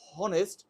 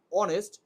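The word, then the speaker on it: honest: তাই এখানে যদি হতো হনেস্ট তাহলে হনেস্ট হলে প্রথমেই হ চলে আসতো। যেটা এইচ এর উচ্চারণ। তো যেহেতু এখানে হনেস্ট না হয়ে বলা হয় অনেস্ট।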